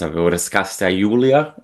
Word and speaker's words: Raskasta Joulua: Raskasta Joulua. It's hopefully something. It's at least reminiscent. Wonderful. Yeah, it's Finnish. It's Raskasta finished. Joulua. So it's A little bit more power in there.